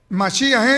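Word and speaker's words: מָשִׁיחַ: griego escuchó escuchó masía es en qué dije mashía es en hebreo repítalo conmigo machilla es en hebreo tras literalizado o traducido al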